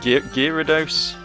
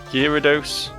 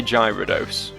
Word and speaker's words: Gyarados: Is it like Gyarados? Gyarados? As I say, child me always used to say Gyarados. Because that made sense to me, because it looks like gyro, the beginning of its name. But I don't actually think that's right. I think that is an incorrect pronunciation.